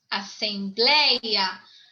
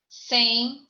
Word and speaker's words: assembleia: Assembleia. Assembleia. Tonicidade na segunda.